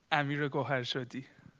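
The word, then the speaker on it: Amir Goharshady: Amir Gohashed. Can you pronounce it for us? Yes, sure. Amir Goharshadi.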